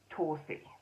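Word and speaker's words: Torddu: This is Tordu, but apparently that's pronounced Torsi.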